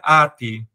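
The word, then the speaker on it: ἄτη: grega, e aí eu aprendi com o Google Tradutor que se pronuncia ati. E aí eu vou ficar falando essa coisa esquisita, ate, porque eu não...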